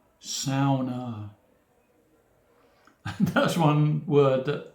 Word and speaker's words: sauna: incorrectly the ou is pronounced as in cow sauna and that's one word